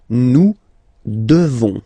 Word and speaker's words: devons: Nous devons. Okay, classic ending ONS for nous. Okay, you just pronounce this on, this nasal. Okay, and then the S, final S is not pronounced.